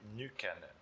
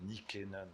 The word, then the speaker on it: Nykänen: Alors, en finnois, on va dire Matti Nykänen. Voilà, c'est ça. Mais il était connu dans le monde francophone comme Nykänen, donc je pense qu'on peut dire Nykänen, si ça évoque des souvenirs assez.